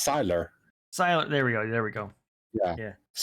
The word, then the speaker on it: Sylar: Look, Sidon, he's great. Sidon? Until they, Sidon, I can't. Wait, how did you pronounce his name? What if it's Cyrus? No, it's Sylar.